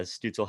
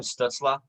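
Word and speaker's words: Stützle: well you know i might have to pronounce his name right if you want to win the rookie of the year because it's tim stutzla but it's i mean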